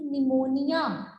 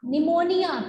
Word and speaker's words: pneumonia: tigers its pronunciation is pneumonia how do we pronounce this word we say it phimonia pneumonia p is silent here pneumonia speak it five